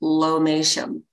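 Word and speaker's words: lomatium: the the plant is spelled l-o-m-a-t-i-u-m and it's pronounced lomation so this is one of those things like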